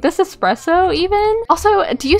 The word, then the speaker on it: espresso: seeing this like this espresso even also do you say espresso or espresso i say espresso because i watched this video one time that was like actually it's not expresso it's espresso um these are things